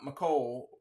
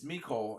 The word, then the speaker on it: Mecole: but it that was a tough day for mikole and everybody it's not mle it's mikole and like for as much grief as I get for pronunciation I mean people I mean it's Mico